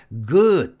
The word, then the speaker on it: good: 발음하라고 가르치는데 절대 아닙니다 g 굿은 유성음 드 때문에 장모음 화가 적용돼서 good 하고 길게 발음해야 이걸 짧게 굿하고 발음하면 안 됩니다 그래서 첫 번째 주의